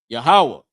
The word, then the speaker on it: Yahawah: Yahawah, this is how how you say the Lord's name.